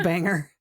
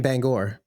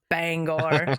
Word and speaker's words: Bangor: He's not everything's a banger. No, no, no. Wait, you mean Bangor? Yes. Shut up. I do actually. That's Sorry, I mispronounced it. Bangor.